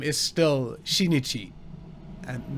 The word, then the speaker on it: Shinichi: But yeah, also the way they pronounce Shinichi is not exactly right, because apparently they have somehow a ch sound at the start.